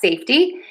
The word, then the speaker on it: safety: Same pattern here. Stress syllable number one. Safe. Safety. Safety. Safety. Safety. I'm saying a flap T here, but you can also say a T. Safety. Safety. Safety. Safety. Safety. Either is fine.